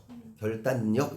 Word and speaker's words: 결단력: 그다음에 결단력 어떻게 발음합니까? 결단력입니다. 력. 결단력 이건 뭐예요? 이게 바로 뭐야? 리을의 비음화가 나타나는 거야. 이게 리을의 비음화야.